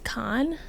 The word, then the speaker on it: Kahan: was cool brag uh Noah Kahan it's a it's like a music guy he plays music Noah Kahan no well I guess his last name is Khan that's how it's pronounced it's it's spelled you